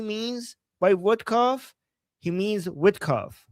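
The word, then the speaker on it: Witkoff: So he's saying, Ghalibaf, you slapped Vodkov. Like you hit Vodkov hard in the face. You know what he means by Vodkov? He means Witkov. He's mispronouncing it. He's saying he's making Witkov sound like vodka.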